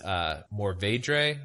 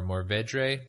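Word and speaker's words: Mourvèdre: pronounce this, but it's Mourvedre or Mourvedre. I have no idea how to say that exactly, but it's Mourve with a little accent over it, Dre.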